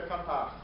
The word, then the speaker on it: Catarse: nessa troca de conhecimento eu usava muito a palavra catar que também aceita a pronúncia Catarse e já respondendo uma